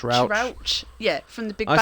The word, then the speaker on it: Rauch: Rauch, is that how you say it? Rauch. Rauch.